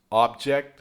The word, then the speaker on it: object: same as spelling, perhaps the difference is how its pronounced because the difference in the part of a speech. If it's an adjective verb or noun, very common in American English. "OBject (n), objECT (v) and all of this and